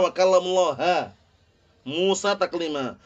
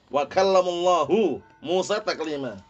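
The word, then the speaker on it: وكلم الله موسى تكليما: Makanya bacanya mereka wa kallamullaha Musa taklima. Kalau lafdzul jalalah Allah, ya kan? Itu berarti maf'ul bih gitu loh. Sedangkan yang benar bagaimana? Fa'il kan ini. Wa kallamullahu Musa taklima.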